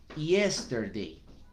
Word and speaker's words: yesterday: en cuenta es que la letra Y, más que sonar como una Y, como en nuestro propio idioma, por ejemplo, la palabra yeso, o la palabra, o el nombre Jessica, si se escribe con Y, en el inglés es más una IE, IE. So you said, yesterday, for example, para la palabra ayer, yesterday, ¿vale?